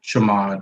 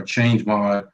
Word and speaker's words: chmod: we get there we added the executable with chamod or change mod or everyone pronounce it chmod uh we just add an